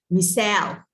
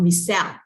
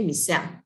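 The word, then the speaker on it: micelle: it for you right or else you'll start to pronounce it michelle okay miseli or misali whatever so it's called miscell okay miss cell so a is ball-like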